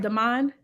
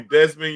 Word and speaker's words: Demand: And so when you talk about, I'm saying it right, Demand. Yep. Thank you, sister. You didn't call me Desmond. You didn't call me Demon.